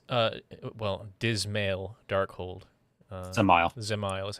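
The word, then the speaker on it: Dzemael: i say in uh well dismal darkhold uh zemail is how it's pronounced and um it the final boss is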